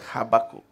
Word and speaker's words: Habakkuk: The other Habakkuk. అది ఎయిర్లో వస్తుంది. Habakkuk. Okay, that's how you pronounce it.